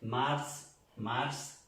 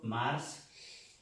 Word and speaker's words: mars: Marzo, mars. Se pronuncia toda la palabra, marzo, mars.